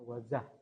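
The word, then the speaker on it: Wazuh: Ada 100 keamanan tidak sesuai dan perlu diperbaiki dan not namanya Wazah open source security platform bacanya wazah.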